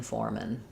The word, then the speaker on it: foremen: The factory had 10 foremen. Kind of strange that the singular and plural have different spelling but same pronunciation.